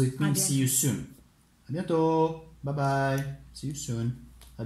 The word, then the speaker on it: à bientôt: A bientôt. And once again, the T, you do not pronounce it. So it means see you soon. A bientôt.